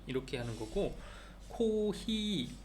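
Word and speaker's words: コーヒー: p 이렇게 하는 거고 코히 F 바람 커피라고 할 때는 히읗 발음으로 한다고 생각을 하면 된다고 합니다 나이프 카페 카페 카페 이런 식으로 F 발음을 히읗 발음으로 한다고 생각을 해라 그래서 커피 이렇게 표현을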